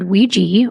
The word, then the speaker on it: Ouija: Wikipedia actually says ouija and it explains that the belief has always been that the word ouiji or ouija comes from the French oi and German ja. The words for yes and I might even be